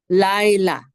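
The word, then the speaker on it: לילה: And then we have a lamed with a kamatz, which says la, and the hey is just part of that la. Laila. Okay, say laila. And the accent is on the first syllable because it's right here.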